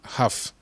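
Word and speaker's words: half: les ailes demo aph pour dire ralph mais prononcé simplement aph à face très grave parce tu l afld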